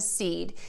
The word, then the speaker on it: cede: Our 2 main words are seed and seed. These 2 words are pronounced exactly the same.